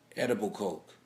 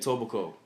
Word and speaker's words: Etobicoke: It was edible coke. Is that what it's called? Edible coke? That's what you call it? Edible coke? Okay. Is that how you say it? Etobicoke. Etobicoke. Etobicoke, yeah. It was a good show.